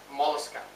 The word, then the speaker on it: Mollusca: next one second last one is mollusca m-o-l-l-u-s-c-a moleska now let's talk about the characters body is